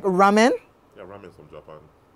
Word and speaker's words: ramen: Ramen noodles is from what country? Spell it.